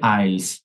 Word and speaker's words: IELTS: Class I'll IELTS এর আমরা এখন থেকে আইলস বলি, সবাই IELTS বলি, এটার উচ্চারণ হচ্ছে আইলস, মানে এখানে বেশ কিছু ওয়ার্ডের উচ্চারণই হয় না।